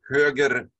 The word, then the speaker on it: höger: You really pronounce the R. So you say höger trafik omläggningen.